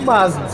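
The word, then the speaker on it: Mazza: Aí no fim eu falo, é Mazda que nem pizza, tá?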